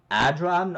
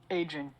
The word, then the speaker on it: Adrian: Is it Adran or Adrian? Adrian. Adrian. Okay, thank you.